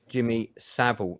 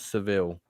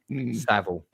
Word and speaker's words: Jimmy Savile: Uh and um but just for your own benefit, it's pronounced Jimmy Savile, not Seville. Savile.